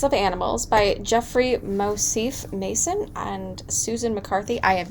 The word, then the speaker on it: Masson: Masson.